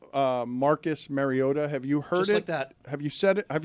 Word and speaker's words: Mariota: Marcus Mariota. Mario. Oh, I've heard Mariota now that you mention it.